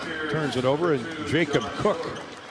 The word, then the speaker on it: Koch: Riley Mulvey turns it over, and Jacob Cook. It's spelled Koch, K-O-C-H, no relation to Cooper.